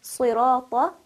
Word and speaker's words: صِرَاطَ: For example, in Surah Al-Fatiha, when we say صِرَاطَ الَّذِينَ أَنْعَمْتَ عَلَيْهِمْ, we should make sure that we are pronouncing صِرَاطَ with the heaviness that it possesses.